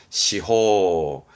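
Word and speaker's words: 司法: 발음은 시호, 시호.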